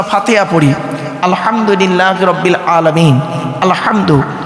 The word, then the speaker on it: আলহামদু: পড়ি আলহামদুলিল্লাহি রাব্বিল আলামিন আলহামদু এই গলার ভেতর থেকে হেটা উচ্চারণ করবেন আলহামদু মানে হচ্ছে সমস্ত প্রশংসা